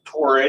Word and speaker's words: Torre: We have a letter here from a Karen Torre, I believe her Tor, that's how you pronounce her name, Chief of the Division of Statutory Programs under the U.S.